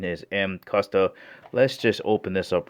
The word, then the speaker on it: Mcusta: below all right before beginning the actual correct pronunciation is M custa so there's a lot of people out there pronouncing it macusto which is fine too they're going to understand